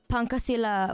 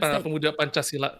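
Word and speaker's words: Pancasila: Panchasilla. Panchcha. Okay. Panchasil youth. Uh oh yeah. The the C is al is pronounced at Cha, right? Panchchasilla. Okay.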